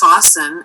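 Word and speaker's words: Faassen: challenging for mainstream america it's a dutch name it's pronounced fossen and it's spelled f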